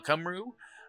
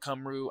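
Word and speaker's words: Cymru: about the team uh cumru um I call it cumru I think it's it it's it's pronounced very oddly it's a Welsh word I believe uh but uh uh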